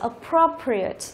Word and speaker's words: appropriate: Thì trọng âm của từ sẽ rơi vào âm tiết thứ ba từ dưới lên, 1 2 3, như vậy rơi vào cái pro này. Đó, như vậy từ này đọc là appropriate, appropriate, appropriate, có